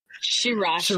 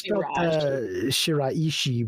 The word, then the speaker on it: Shiraishi: his name is pronounced shirashi shirashi yes it's shiraishi but I think they were just saying shirashi shirashi yeah but he just